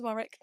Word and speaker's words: Warwick: It was Warick. So, uh, yeah, completely embarrassed myself, but yeah. Take the R out.